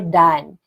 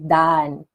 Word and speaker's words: dalan: others we say uh dalan okay these are the variation dalan or Dan we don't pronounce the letter L we just say Dan next one curve it's